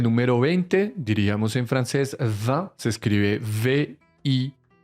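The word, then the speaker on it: vingt: Comenzamos con el número 20, diríamos en francés 20, se escribe V-I-N-G-T. Lo vas a pronunciar la V con una E nasal, 20.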